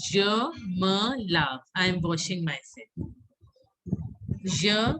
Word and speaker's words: je me lave: So how to pronounce je me lave?